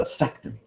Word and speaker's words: vasectomy: people don't recognize because when we say vas deferens we put the stress on the a that's okay whereas when you put vaz and ectomy together they move the stress in the word and they put it on the e and they call it a vasectomy okay that's where people